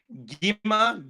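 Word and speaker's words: Gwi-Ma: Gimma. Gimma. Is that how they're pronouncing it?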